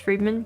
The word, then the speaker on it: Fremen: The Fremen is supposed to be pronounced Freeman, because I'm gonna say Fremen.